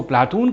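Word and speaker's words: Πλάτων: प्लेटो, यूनानी उच्चारण में उसको प्लाटून कहा जाता है, अरबी में इसको अफलातून कहते हैं।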